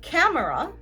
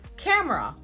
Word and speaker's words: camera: Instead of camera, many people will say camera.